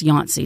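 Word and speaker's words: Yonce: I- it's Y O N C E, but I think it's still pronounced Yancey, not like the Yanceys that are here in Charleston.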